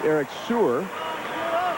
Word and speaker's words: Eric Seer: And correction on that pronunciation, it's Eric Seer.